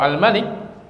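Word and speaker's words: الملك: Kalau Al-Malik dibacanya pendek, Al-Malik itu artinya apa?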